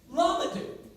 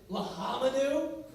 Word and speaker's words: Lamadou: My last name is Lamadou. Let's set the record straight. It is pronounced Lamadou. Now, over the course of my life, I have heard Lahamadou, Lamadeu, Lahamadeu. And this happens a lot.